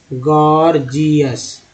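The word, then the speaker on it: gorgeous: जैसे अब मान लीजिए गॉर्जियस लिखते हैं, गॉर्जियस, तो अब देखिए कि पहला जी जो है ग बोल रहे हैं गौर, दूसरा जी ज बोल रहे हैं जी, गॉर्जियस, गॉर्जियस हो गया ना।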